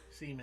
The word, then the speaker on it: Seimon: As brilliant as Seimon was, Seaman. he was all that Seaman. it's It's pronounced semen, God.